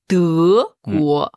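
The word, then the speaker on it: 德国: En chinois, on a choisi la première syllabe aussi, le de. Du coup, ça se prononce de guo. De guo. De, quel ton? 2e ton.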